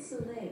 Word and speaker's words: Soleil: Soleil. Am I pronouncing that right? Alexa, pronounce S-O-L-E-I-L. The word Soleil is pronounced Soleil.